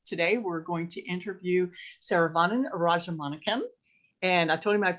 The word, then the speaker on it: Saravanan Rajamanickam: So I'm Saravanan Rajamanickam. So this is the correct pronunciation.